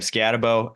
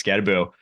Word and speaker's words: Skattebo: miss I have Cam scabbo at five scabo excuse me I did I I butchered it last week it's scaboo uh David Martinez from